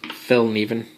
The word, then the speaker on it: Fällkniven: is my first uh Fel Neen as I believe it's pronounced um I don't not 100% sure I'm not really Swedish but uh I've heard that it was pronounced F NE but at any rate